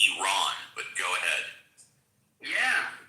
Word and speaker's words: Iran: Middle East knows that Iran is pronounced Iran, but go ahead.